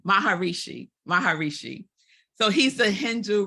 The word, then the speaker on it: Maharishi: Shri I always say his name ranked wrong baharishi Maharishi Maharishi so he's a Hindu religious leader who